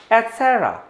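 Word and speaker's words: et cetera: इसी crazy spelling में जो ये लेटर है साइलेंट है, जिसकी वजह से एटसेट्रा की जगह वर्ड होगा एटसेरा, वर्ड होगा एटसेरा, एटसेरा।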